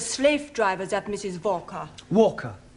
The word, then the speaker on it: Walker: driver at Mrs Walker Walker what w is pronounced W your employer's name is Walker yeah Walker do you